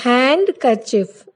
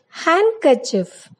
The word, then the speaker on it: handkerchief: D is not pronounced in the following common words. For example, Wednesday, handsome, handkerchief. It is not handkerchief, it is handkerchief.